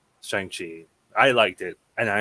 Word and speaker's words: Shang-Chi: say for a certain knit you're gonna like shang chi i liked it and i enjoyed it so if anything just get out there and go watch it uh by the way it's shangchi but that's nice yeah all right stop it